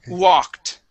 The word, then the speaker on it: walked: Instead of gu, start with an oo. Ooh. Okay. Good. Much better. Yes. So, um, Jose, whenever you have a word that starts with a W, okay, um, you can start it off with an ooh sound and it will sound just fine.